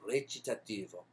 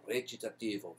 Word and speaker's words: recitativo: It's recitativo. It's spelled without a CH. It's a C in Italian. It's pronounced like a CH. It's recitativo is the singular.